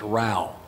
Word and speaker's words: row: my friends terminated in most of us will read row and it's not it it's Ral rhymes with cow means quarrel or fight